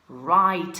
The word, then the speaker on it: write: letter now in English if there's a W next to an R that W is a ghost letter so don't pronounce the W okay right okay what